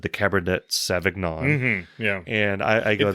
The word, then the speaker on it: Cabernet Sauvignon: A lot of people think it's pronounced Cabernet Sauvignon. Well, it's not. They're wrong. It's Cabernet Sauvignon.